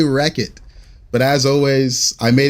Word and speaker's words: Rechot: How do I pronounce my name? I say Wreck-It.